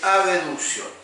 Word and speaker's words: abducción: Posición normal en abducción, hacia afuera. Ahora, yo para no enredarme, generalmente como las palabras son muy parecidas, generalmente la pronuncio así, abducción. Siempre remarco acá en abducción.